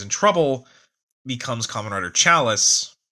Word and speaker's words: Chalice: trouble, becomes Kamen Rider Chalice, or as they pronounce it, Callus, which I guess that's how they pronounce it, but, in doing